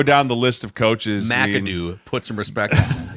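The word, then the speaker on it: McAdoo: How about Ben Makudo? I mean, you you could go down the list of coaches. Madoo.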